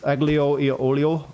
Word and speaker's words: aglio e olio: I never can pronounce it correctly since it's very Italian, but it's aglio e olio, whatever how you pronounce that.